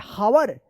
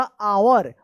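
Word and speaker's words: hour: एच ओ यू आर हावर नहीं ये गलत है। यहां पे जो है ना एच साइलेंट रहता है। इसका उच्चारण होगा आवर।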